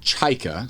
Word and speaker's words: Czajka: It's pronounced chaika. So when you hear it, it's fairly simple sounding, but when you look at it, you have the CZ.